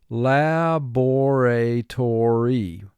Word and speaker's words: laboratory: must pronounce this word laboratory this is a five-syllable word the first syllable is